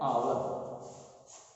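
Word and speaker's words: hour: वैसे ही है एन आवर। लिखा गया है एच से, लेकिन इसका उच्चारण ह से न होकर के अ से होता है।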